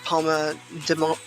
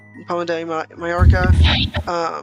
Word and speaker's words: Palma de Mallorca: On day 2, you'll visit Palma de Mallorca.